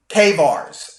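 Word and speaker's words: CAIVRS: pull your credit through Kars I believe it's how it's pronounced it's it's spelled c a i v RS they even though it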